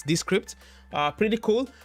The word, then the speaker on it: Descript: you mean it's called descript and this script is spelled i'm gonna put that in the chat it's spelled as the d e and then the word script i'm gonna put a